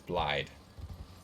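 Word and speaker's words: Blaidd: not bad it's lied his name is blyde I remember his name sounds like blade yeah I've lied yeah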